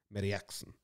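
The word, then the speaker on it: Mariekson: I'm expert at pronouncing it. Meriaksen.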